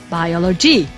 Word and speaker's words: biology: Or the third word, we don't say, for example, biology. We say biology, because the largest circle, the stress is over the second syllable, biology.